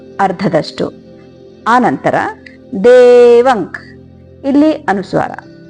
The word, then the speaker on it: ದೇವಕಿ: ಮರ್ಧನಂ ದೇವಕಿ ಪರಮಾನಂದಂ ದೇವಕಿ ಕಿ ದೀರ್ಘ ಇರಲಿ ಮತ್ತೆ ದೇ ಕೂಡ ದೀರ್ಘ ಇರಲಿ ಹಾಗೆ ಪರಮಾನಂದಂ ಇಲ್ಲಿ ಪರಮಾನಂದಂ